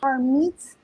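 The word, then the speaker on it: Harmeet: harmed her meat her name her name is pronounced har meets dylan claps back on twitter and says like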